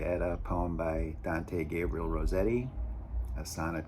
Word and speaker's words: Gabriele: His father was Gabriel, I'm not sure I'm pronouncing it right, Gabriele, what's faithful to the Italian pronunciation, but Gabriel Rossetti, who